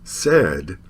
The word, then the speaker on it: said: made paid and braid but plaid and said have pronunciations that are irregular gains and names are